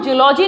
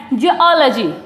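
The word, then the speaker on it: geology: जूलॉजी, जूलॉजी, बायोलॉजी, यही subject तो होते हैं ना, लेकिन इसको हम जूलॉजी नहीं बोलेंगे, इसका जो सही प्रोनाउंस है वो है जियोलॉजी, जियोलॉजी।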